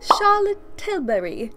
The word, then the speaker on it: Charlotte Tilbury: but I feel like when you say Charlotte tilbury's name you can never just say it like in an American accent if you're from the US you have to say it with a British accent that is the most